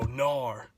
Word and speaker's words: gnar: dad standpoint you know nor funny word it's a silent G but the textbook definition